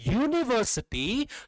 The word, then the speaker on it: university: वैसे ही क्या यूनिवर्सिटी का स्पेलिंग तो होता है ये यू से स्टार्ट होता है, लेकिन जब आप प्रोनाउंस करते हैं यूनिवर्सिटी तो साउंड आपका आता है यू, वाई यू, य, राइट, य.